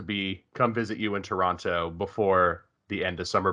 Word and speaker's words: Toronto: who aren't from here we actually don't pronounce the second t so oh toronto toronto no just toronto not no second t